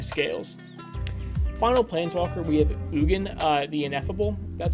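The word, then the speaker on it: Ugin: Final Planeswalker, we have Ugen, the Ineffable. That's how you pronounce it.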